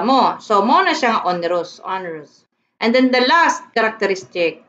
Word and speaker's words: onerous: So, this is not pronounced as onerous. It is onerous in that the partners are burdened.